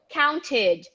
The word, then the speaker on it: counted: have to do what pronounce the e and include the t in this case because it's the last letter so you have to go counted counted counted counted so you will